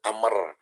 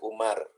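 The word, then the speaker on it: عمرو: nah ini ini kan kalau sudah ada wau eh setelah Ro Jadi Ain mim ro kemudian ada wau itu disepakati oleh ulama dibacanya Amr supaya tidak tertukar dengan Umar kan antara Umar dengan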